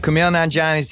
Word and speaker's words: Kumail Nanjiani: and you were saying like, my name is pronounced exactly how it looks like it should be pronounced.